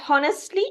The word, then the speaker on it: honestly: silent if you say honestly it is wrong so H is silent you're only going to pronounce o honestly is that clear